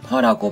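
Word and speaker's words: Phở: 베트남의 대표 음식인 쌀국수는 현지 발음인 펄라고 발음하는데요.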